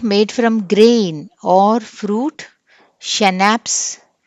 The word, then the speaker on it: Schnapps: Schnapps. S is silent, sorry C is silent.